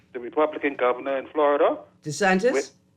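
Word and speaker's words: DeSantis: a couple months ago where I'm try to pronounce my boy name the Republican governor in Florida Des santis Des santis that's right where they where they either B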